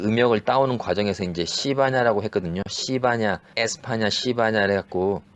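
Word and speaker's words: 西班牙: 네 그런 것처럼 그 황당한데 스페인을 그 자기네 나라 말로 이제 그 음역을 따오는 과정에서 이제 시바냐라고 했거든요.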